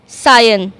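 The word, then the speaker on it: scion: अब सायन बोलते समय हम क्या कर रहे हैं? सी को अगेन क्यों साइलेंट कर रहे हैं? क्योंकि एस और सी यहां पर हमारे सामने एक साथ आ गए हैं। इसलिए हम क्या करेंगे? सी को साइलेंट कर देंगे।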